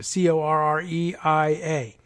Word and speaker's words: Correia: David Correa, is that his name? Correa? I don't even know how he pronounces his name. Correia.